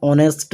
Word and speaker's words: honest: So H is silent here, and as vowel is coming at first, this is why we use N for these.